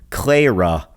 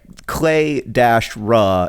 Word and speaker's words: Clara: I don't have a very good grammar, but I do have this question from Clara, not Clara. She wrote that her name is pronounced like Clay-Ra, not Cla-Ra, but I actually don't find that helpful.